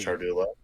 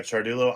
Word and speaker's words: Ciardullo: those of you that don't know how to pronounce my last name charul that would be me yeah it's it's Italian so just like cha is spelled that's how it's said CH uh Chulo I play in a band called carcosa I